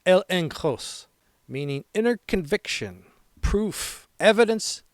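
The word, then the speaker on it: ἔλεγχος: Confidence in the Greek is pronounced el enross meaning inner conviction, proof, evidence that persuades.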